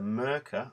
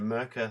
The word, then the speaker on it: Merkur: is in its box it's a murker i think that's how you say it's a german make and it's a merka 34 um classic uh